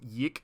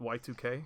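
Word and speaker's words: YIIK: It's pronounced Yik, not Y2K.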